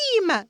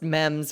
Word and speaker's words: meme: Like Jennifer, it's a meme. Mims. I'm sorry. I still think she's an icon regardless of what she I think this makes her comment. You know why? Because she pronounced mems wrong, but she read the situation right.